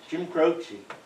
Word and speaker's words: Croce: It's like Jim Crochet. He wrote a song that said, if I could save time in a bottle, you probably have heard that song. Jim Croce. We know him well. Well, I looked it up on the internet and he said it's not. Anyway, they pronounced it Italian crochet.